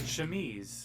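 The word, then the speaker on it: chemise: How do you pronounce it? Shmese.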